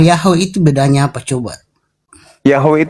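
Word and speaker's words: Yahweh: Yahwe itu cara membacanya mesianik. Mesianik yang bikin cara membaca YHWH.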